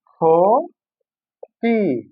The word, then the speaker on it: ক্ষতি: শুরুতে থাকলে হবে খ এর মত।